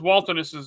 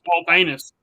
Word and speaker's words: Waltonus: First off, everybody says Waltonus's name wrong. Whenever I type it in there, they're like, "Look, it's Waltanus." It's not Waltanus. It's Waltonus.